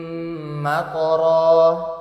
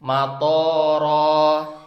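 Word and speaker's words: مَطَرًا: Contohnya di ayat ini, bacaan yang benar. Wa amtorna alaihim matara. Toknya dibaca pendek, agar artinya, dan kami hujani mereka dengan hujan batu. Tapi kalau toknya kita panjangin, matara, artinya bakal berubah menjadi, dan kami hujani mereka dengan hujan bandara.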